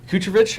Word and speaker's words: Kucherov: Points we have Nikita Kucherov. I think that's how I said it right. Yes, sir. Kucherov, yeah.